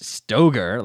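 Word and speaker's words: Stoeger: stagger shooter or Ben stagger shooting and if you wow yeah Google it it's not even Ben stagger not spelled the same right it's Stoger like s o e g r and Ben Stoger is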